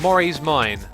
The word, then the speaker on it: Mori's Mine: X, it's pronounced Mori's Mine. Okay, but it's spelt with a K.